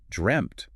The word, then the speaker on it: dreamt: When you pronounce dreamt, you're making a really complicated jump from the voiced consonant sound, the M, which involves your vocal cords vibrating directly into the unvoiced sharp T sound where there's no vibration.